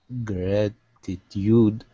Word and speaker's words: gratitude: Gratitude. The one before, two. Gratitude? I don't know. Gratitude? Gratitude. Yeah, I think first one, gratitude.